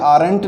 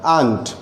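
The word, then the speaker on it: aren't: आर नॉट आंट, याद रखिए ये आरंट नहीं होगा, इसका प्रोनाउंसिएशन आपको करना है आंट।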